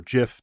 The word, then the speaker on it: GIF: portable network graphic or gif or gif depending on where you are how you pronounce that word uh it actually is